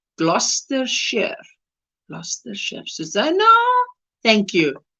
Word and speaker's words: Gloucestershire: got it right there that name is pronounced gloucestershire plus the chefsana thank